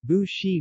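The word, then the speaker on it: 不是: in Yee one for boo-boo-boo is pronounced with second tone when followed by a fourth tone syllable example bushi boop + Shi to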